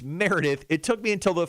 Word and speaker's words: Meredith: Now, Meredith chimed in. She said, my name is Meredith, not merely Mare Death. Mary Beth, Mary. Do I have a lisp? No, it's Meredith.